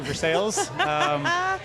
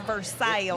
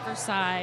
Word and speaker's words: Versailles: Siri or Google Maps pronounces it Versailles, and I'm like, girl, not quite. Yeah. Get the southern accent.